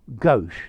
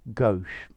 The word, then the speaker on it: gauche: So, gauche, notice English pronunciation this time, not French pronunciation. Graceless, tactless, unsophisticated, unpolished, gawky, lacking in social graces. Yeah? Okay, so, gauche.